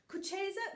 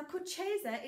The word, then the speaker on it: Kucheza: Now, Kucheza is quite a hard word to get your mouth around, so we're going to split this word up. I'll do it slowly in syllables, Kucheza, and then I'll hand it over to Mr.